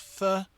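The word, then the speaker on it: phở: It's pronounced fur, but I think there's more of a f in it. So, it's like a fur or something.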